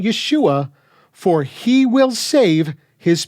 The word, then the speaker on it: Yeshua: weird however is that some believers who prefer to not call him Jesus don't even call him Yeshua but instead call him yahshua or yahushua or some other kind of linguistically incoherent pseudo-hebrew and I don't say